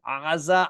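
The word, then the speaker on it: עזה: The Greeks were like, we don't have a letter that sounds like that in our language. Let's just write Gaza. And this is why today we call the place Gaza. But historically, it was aza, and still today, aza.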